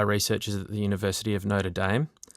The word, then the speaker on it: Notre Dame: at the University of Notre Dame, which I always need to get my pronunciation right because they don't pronounce it the French way. It's notAM. It's not that. No, it's Irish.